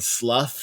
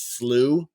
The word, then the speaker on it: Slough: he got that and instead of saying Slough he says slooh um and so some